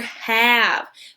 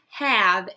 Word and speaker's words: have: The V is pronounced like you would probably expect as well, but the E is the tricky part in this word because it doesn't stand for any sound in this word, just like our other tricky words today.